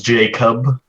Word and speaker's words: Jacob: name my name is Jacob like J as in blue jay and then Cub as in like bear cub how do you say